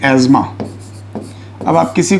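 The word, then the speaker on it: asthma: एंड इट इज़ द अस्थमा। अब हम कहते अस्थमा है क्योंकि अगर सही प्रोनाउंसिएशन कर देंगे तो हो सकता है कुछ लोग को तकलीफ हो। इसका सही प्रोनाउंसिएशन है एज़मा।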